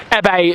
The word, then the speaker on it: Abey: Abey is how you say it. It would be or nice to see Abey, as other people like to say it.